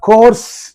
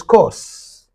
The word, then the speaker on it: coarse: to the sound of Co laughter Co laughter in in the Indian pronunciation you say co co means rough and harsh actual pron is course course course course means rough harsh okay laughter and uh